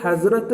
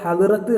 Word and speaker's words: حضرت: അപ്പോൾ ഈ ഹസ്രത്ത് എന്ന് പറഞ്ഞാൽ ഒരു വലിയ പ്രശസ്തരായ ആളുകളുടെ മുമ്പിൽ ചേർക്കുന്ന ഒരു പദമാണ് ഉറുദുവിൽ ഹസ്രത്ത് എന്നുള്ളത്. അപ്പോൾ ഹദ്റത്ത് എന്ന് പറയരുത്, ഉറുദുവിൽ ഹസ്രത്ത്, ഒരു ഉച്ചാരണമായിരിക്കും വരിക. ഹസ്രത്ത് ഖദീജ, ഹസ്രത്ത് മുഹമ്മദ്, അങ്ങനെയാണ് ഉച്ചരിക്കേണ്ടത്. ഹസ്രത്ത് മുഹമ്മദ് സല്ലല്ലാഹു അലൈഹി വസല്ലം